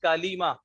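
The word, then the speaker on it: كلمة: کہتے ہیں۔ ٹھیک ہے، تو یہ اصل اس کا تلفظ کیا ہے؟ کلیمہ۔ ٹھیک ہے، لام کے زیر کے ساتھ، لیکن ہم اس کو بولتے ہیں کلمہ کلمہ کلمہ کہتے ہیں۔ ٹھیک ہے، تو کلمہ اس کا اصل تلفظ ہے، اصل تلفظ آپ کو آنا چاہیے۔ जी, तो इसका दूसरा नाम क्या है?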